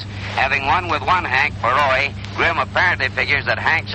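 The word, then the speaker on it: Borowy: The cab driver that I came out here with insisted on calling Baroy Baroy, and I told him no, that the name properly pronounced was Baroy.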